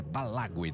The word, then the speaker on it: Balague: Aliás, o oposto é Balague, né? É a pronúncia do oposto.